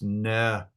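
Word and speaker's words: Nebajoth: So here's a J in the middle of a word, but we've already said Semitic languages don't have a J. So it's Nebayaot.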